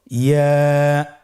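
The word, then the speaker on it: ياء: ইয়া উচ্চারিত হয় জিহ্বার মধ্যখান তার বরাবর উপরে তালুর সঙ্গে লাগিয়ে উচ্চারিত হয়। আমরা জিহ্বার মধ্যখানটাকে উপরে তালুর সঙ্গে লাগিয়ে উচ্চারণ করি ইয়া।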